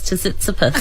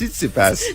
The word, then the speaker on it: Tsitsipas: Stefanos Tsitsipas. I believe the T is silent. Oh, is it? Well, there you go. Stefanos Tsitsipas. Tsitsipas.